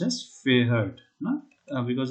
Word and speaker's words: fährt: Okay, then first of all, this has to be pronounced as Fahrt, no?